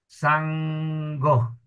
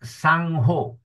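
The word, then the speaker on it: saṅgho: Not Sangho. Many people will pronounce it Sangho. By Sango. S-A-N with the dot on the top is really N-G. So it is S-A-N-G, sang, G-H-O, go, sang-go, not sang-ho, okay, sang-go, okay, and then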